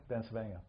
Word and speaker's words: Bencivenga: Yeah, Bencivenga.